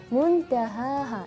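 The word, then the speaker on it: مُنتَهَاهَا: Terus fima anta min dzikraha ila rabbika muntahaha.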